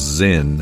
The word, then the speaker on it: Sinn: got its own Zin buckle and it is pronounced Zin it's German and uh basically Aviator watches really